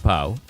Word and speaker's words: P0.e: It's pronounced Poe.